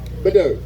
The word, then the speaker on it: Badeau: Badeau. All right. It's Bidet, but Badeau.